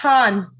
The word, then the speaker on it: Khan: last name or khan how is that pronounced it's han okay yeah because they